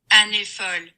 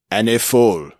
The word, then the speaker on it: Années folles: Let's see if it will pronounce. Oh, did you mean? Yes. Okay. Années folles. Années folles.